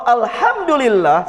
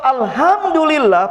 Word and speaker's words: alhamdulillah: Contoh Pak, kan yang benar kan al-fatihah alhamdulillahirabbil alamin, pakai hak ya. Istilah orang Indonesia hak kecil. Artinya segala puji bagi Allah. Tapi kadang ngantuk Pak, alhamdulillahirabbil, pakai hak. Itu artinya bahaya Pak. Kalau alhamdulillah, segala puji bagi Allah. Tapi kalau alhamdulillah pakai hak, segala kebinasaan bagi Allah.